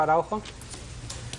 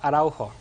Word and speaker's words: Araujo: Araujo. Slower. Araujo. Spell it. A-R-A-U-J-O.